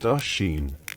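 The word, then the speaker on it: Oisín: The most famous story of Tur Na Nog involves Oisen, pronounced Ashin, son of Fion Mamill, the legendary Irish hero.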